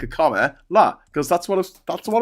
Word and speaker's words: Kamala: the first time I try and say comma like comma like a comma LA because that's what that's